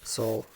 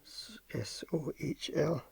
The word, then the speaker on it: Sohl: Sohl. S-O-H-L. Sohl. No, how you pronounce it.